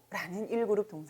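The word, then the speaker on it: 拾う: 이 문장 은 1 군 동사 " hirou"( 히로 ) 를 사용 하므로 , 참고 하실 때 이 점 도 기억 해 두시기 바랍니다 .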